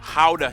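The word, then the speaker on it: Gouda: Ha cheese. Yep, that's how you pronounce it, guys.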